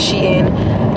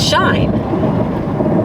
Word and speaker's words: Shein: pronounce how everybody pronounces she in is shine s-h-e-i-n should be pronounced shine but somehow the [